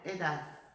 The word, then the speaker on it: edad: Eles falam, por exemplo, edad. Tá vendo? Edad. Coloca a língua entre os dentes como se fosse um som de S.